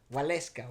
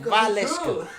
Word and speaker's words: Valeska: It's pronounced Valeska. Yeah. It's pronounced... maybe people might find this helpful. It's pronounced Valeska. That's Not right.